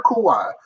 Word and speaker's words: Kawhi: Please, when we clip this up, and I say it correctly, Clipper Kawhi, to me, is one of the biggest busts in NBA history.